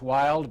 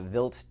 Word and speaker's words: Wild: it and in uh in german uh a w is pronounced like a v so a vilt ii this was his